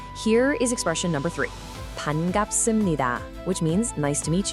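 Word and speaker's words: 반갑습니다: Let's nail down the pronunciation. Listen carefully. Pan-gap-sum-ni-da.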